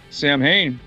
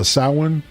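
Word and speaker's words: Samhain: know the cult names Sam Hayne is the real name for Halloween yes or actually the the Celtic pronunciation that someone has told me is uh sauwin or saving ah something like that oh I could see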